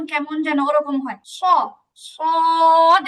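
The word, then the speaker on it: ص: সদ। একটু চড়ুই পাখির মধ্যে একটু চেউ চেউ আওয়াজ থাকে এর মধ্যে।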